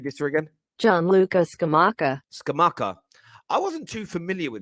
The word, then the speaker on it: Scamacca: I know Arsenal fans want to speak about, I want to make sure I pronounce his name right. Let me just read this through again. Gianluca Scamacca. Scamacca.